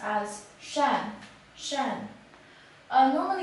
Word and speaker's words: 善: this character is pronounced as Shan Shan alone it's an adjective which means benevolent